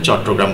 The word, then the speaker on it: চট্টগ্রাম: দেখ উচ্চারণ চট্টগ্রাম বলতে হবে।